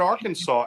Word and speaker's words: Arkansas: the truth it is illegal to mispronounce the name of the State Arkansas so if somebody comes down there and says it's nice to be in AR Kansas you g get arrested